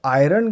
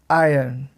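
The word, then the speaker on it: iron: अगर आप इसे आयरन करके बोल रहे थे, आर पर अगर आपका ज़्यादा फोकस था, स्ट्रेस था, तो वो एक इनकरेक्ट प्रोनाउंसिएशन थी। आपको इसे बोलना है आयरन, आयरन। इस तरह से।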